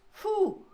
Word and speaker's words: pho: It is pronounced fu like fun without the n.